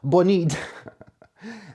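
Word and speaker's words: Bonide: It has been approved in um organic agriculture and in US that's bonid right that's the pronunciation bonid um that's not the American accent.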